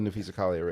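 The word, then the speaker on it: Napheesa Collier: Do you know who Nafisa Collier is? That's how you say her name.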